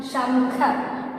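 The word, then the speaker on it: शंख: Since that dot is coming just above to the consonant sha, so how I will pronounce this letter as sham, shamkha, shamkha. Okay, shamkha.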